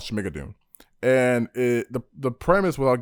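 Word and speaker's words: Schmigadoon!: show called uh schmidt uh how do you pronounce it the hell is final say that again uh smigadoon yes make a dune that's what it is yeah they're in a new show called shmigadoon and it the premise without giving too much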